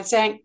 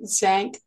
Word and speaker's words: Zan: the book correctly um it's actually Zan not Zan so it's thank you